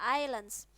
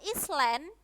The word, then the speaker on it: island: They are Java and Madura Islands. Walaupun ini tulisannya Island, ya teman-teman ya, Island, tapi bacanya island, bukan Island ya.